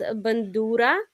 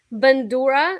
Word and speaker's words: Bandura: It's a Ukrainian instrument called bandura.